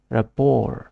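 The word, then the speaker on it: rapport: এই সেকেন্ড শিলগুলো থাকিব আর last letter to silent এটু রেপোর বলি প্রনাউন্স করা হয় রেপোর ইট ইজ use only as a noun noun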